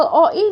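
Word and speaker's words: を: bukan huruf Oh yes ini adalah huruf-huruf Tetapi dia dibacanya o sehingga kita akan sebut ini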